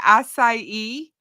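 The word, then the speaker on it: açaí: this which is like a it's called strawberry asai with lemonade um excuse me it's called what strawberry assai e with lemonade i e assai a c a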